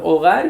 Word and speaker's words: hogar: Originalmente, repito, ese era el sonido de la letra H, pero con el tiempo y todo lo que ha cambiado, dejaron a la H muda, ¿verdad? Que al final sirve nada más para la ortografía, pero al final sabemos que no tienen sonido, tal que es hogar, y la H pues no tiene sonido ahí.